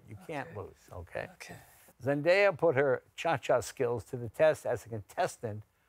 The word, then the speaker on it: Zendaya: It's Zendaya, I think is how you say her name.